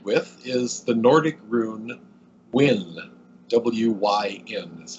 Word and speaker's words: Wyn: Another symbol I'm associated with is the Nordic rune Wyn, W-Y-N is how you say that one, which carries a meaning of joy.